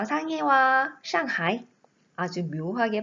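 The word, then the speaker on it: 上海: 션 다이 다시한번 슝 하에 나갑니다 저 상의와 샹하이 아주 묘하게 발음이 닮아 있죠 중국어를 공부하면 알겠지만 우리나라의 말이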